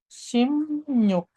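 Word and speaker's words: 십육: Jadi kata sip yuk ini dibacanya menjadi simuk.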